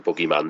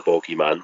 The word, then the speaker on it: bogeyman: act and legend in the boogeyman the bogeyman whichever way you want to pronounce it and that's John Carradine